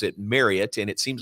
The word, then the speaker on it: Marriott: I, for my entire life, have pronounced the hotel chain as Marriott. And we come and we play in Provo in the outstanding Marriott Center, and you pronounce it Marriott, and it seems like everybody out there, Provo,